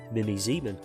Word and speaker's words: Mimi Zieman: story and how we become our truest selves Mimi Zan and that is how you pronounce her name as you're here was raised